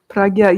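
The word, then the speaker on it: prajñā: Pragya, yeah, like the correct pronunciation is not the zh, but it's the pragya. It's kind of like a G.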